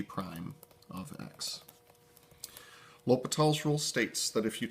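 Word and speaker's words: L'Hôpital: rule is known as l'hopital's rule you can tell it's French because there's a bunch of letters in it you don't pronounce l'hopital's rule states that if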